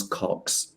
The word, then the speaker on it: Kochs: And this man's name is Thomas Cox. His surname is spelled Kochs.